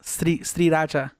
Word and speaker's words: Sriracha: It's actually pronounced Sriracha.